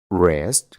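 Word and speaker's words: wrist: El octavo truco es que cuando tenemos una palabra que empieza con una W y después tiene una R, solo vamos a pronunciar la R y no vamos a pronunciar la W.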